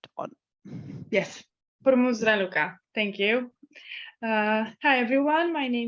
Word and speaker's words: Raluca: And would like to ask. I'm sorry when I pronounce the name wrong. Your microphone is not on. Yes, Hormuz Raluca.